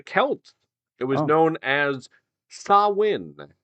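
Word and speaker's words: Samhain: practiced by the Kelts it was known as sawin spelled completely different than that uh I'm not even kid it's spelled s m h a i n and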